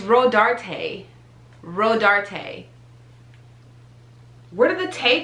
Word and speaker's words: Rodarte: years old when i knew how to properly pronounce this i've been saying ro dart this entire time row dart no no it's rhodarte rhodarte where did the tay come from like